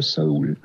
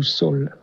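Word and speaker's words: Saül: 1 Samuel, c'est sur la mort de Saoul, ou Saul, ça dépend comment on prononce.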